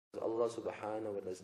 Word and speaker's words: Allah: read with tafkheem and has to be prolonged. Allah, like that. Naam? Or if it's read short, Allah, Allah, Allah, you know? But not lightly. The tarqiq, the thinness and the lightness in the pronunciation is not allowed.